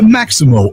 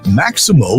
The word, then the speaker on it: Maxymo: The Maximo app, which is spelled Maxymo, it helps Uber, Lyft,